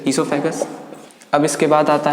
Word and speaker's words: oesophagus: ईसोफेगस में ओ silent है, OESOPHAGUS, ईसोफेगस।